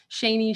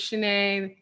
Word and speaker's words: Shanae: have to ask me how do you pronounce your name shaney shawnee whatever so i said hey linkedin this is actually my first video my name is shanae that's how it's pronounced very short i was shaking the